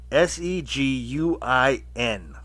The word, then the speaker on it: Seguin: I don't even know how to pronounce his name. Seguin.